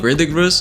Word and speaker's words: Verdigris: I think we pronounce Verdigris.